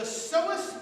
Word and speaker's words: psoas: The psoas major, this is the psoas major, P-S-O-A-S, has that silent P like my name.